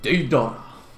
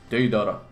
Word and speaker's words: Deidara: People pronounce Deidara differently, but in the anime it's like Deidara, Deidara, right? It's like Deidara.